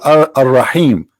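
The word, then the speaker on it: الرحيم: They say Ar-Rahim because this is how it's pronounced, but the fact it is Al-Rahim, Al-Rahman, Al-Aziz, Al-Muhaymin, etc.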